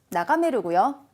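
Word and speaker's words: 眺める: 자, 1번에 나가에루가 아니고 메루. 나가메루고요.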